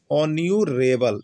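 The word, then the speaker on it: honourable: है आपका साइलेंट है हा साइलेंट है हा का उच्चारण नहीं हो रहा है तो क्या हो रहा है ओन्यूरेबल तो देखिए आर एन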